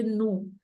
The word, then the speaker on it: nous: n'allons, attention Priscilla, ne prononce pas le S final de nous.